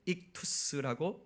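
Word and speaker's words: ΙΧΘΥΣ: 헬라어로 물고기는 익투스라고 발음하고 저렇게 씁니다.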